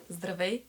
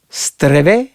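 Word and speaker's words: Здравей: Zdravej. Streve?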